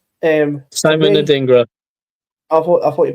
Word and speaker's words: Simon Adingra: Next player is Simeon Adringa. Simon Adingra. I thought you pronounced Simeon Adringa.